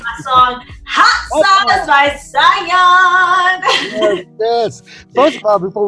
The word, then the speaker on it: Sayonne: Her name is spelled Sayonne, and it's pronounced Sayonne. So just to make sure y'all don't go messing up the name, okay? Yeah, don't say Sayonne. No Sayonne, no nothing. It's Sayonne, like Dion, Tion, Sayonne.